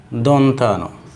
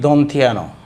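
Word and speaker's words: দন্ত্য ন: এরপর এটা দন্তা ন, দন্তা ন। তাহলে এটা শিক্ষার্থীরা উচ্চারণ করে কি দন্থিয়া ন, দন্থিয়া ন নয়, এটা হলো দন্থা ন।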